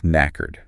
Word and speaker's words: knackered: The word is knackered. Knackered. That is a very strange sound. It's a bit difficult to spell, too. It starts with a silent letter, K.